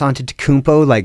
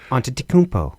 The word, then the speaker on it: Antetokounmpo: I mean, of course, you hear stories about didn't Giannis Antetokounmpo not even start playing basketball until he was 15 or 16 or something.